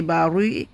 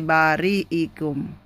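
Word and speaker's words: بارئكم: So we don't say bari, but we say bariikum.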